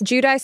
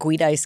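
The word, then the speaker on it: Giudice: Kate Middleton is Teresa how do you say her last name judice judice still in prison it is that's how you say it I always wanted to say like GED ice cuz it's like no she's been out since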